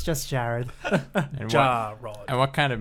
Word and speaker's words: Jarrod: So some people pronounce it as Jared or Jared or Jared. J-R-R-Rod. Or Jarrod. It's just Jared.